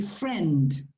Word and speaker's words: friend: Remember, I is not pronounced. So you have to say friend, not friend.